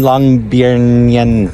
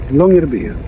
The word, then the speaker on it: Longyearbyen: In Longyearbyen. Yeah. How do you say? Longyearbyen. Longyearbyen. Longyearbyen.